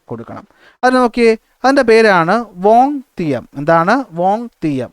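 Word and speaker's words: vingtième: അതിന് നോക്കിയേ, അതിൻ്റെ പേരാണ് വോങ് തിയം. എന്താണ്? വോങ് തിയം. ഓക്കെ, VINGTIEM എന്നാണ് ഇതിന് മലയാളത്തിൽ വായിക്കുമ്പോൾ വോങ് തിയം എന്നാണ്. എന്താണ്? വോങ് തിയം എന്ന പേരിൽ എന്ത് ചെയ്തു? ഉച്ചാരണം ശരിയാണെന്ന് വിശ്വസിക്കുന്നു. വോങ് തിയം എന്ന പേരിൽ എന്ത് ചെയ്തു?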